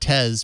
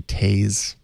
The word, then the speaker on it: Tez: it wrong Ron it's fun to call it tez because it rhymes with pays yes but it's actually tase tase like parently yeah but not spelled that